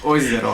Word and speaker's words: ozero: No, it's Voizera, but Ozero.